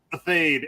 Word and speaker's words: Athayde: your last name a fade at least in the states that's how we say it okay I finally learned